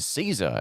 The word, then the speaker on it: Cesar: Caesar.